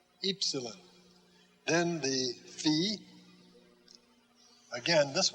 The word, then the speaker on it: epsilon: And then Epsilon, long E as in feet. It's just like our English U, but we pronounce it E, Epsilon.